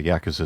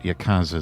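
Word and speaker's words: Yakuza: I was going to vote Yakooza Zero, as you Brits pronounce it. I pronounce it Yakooza.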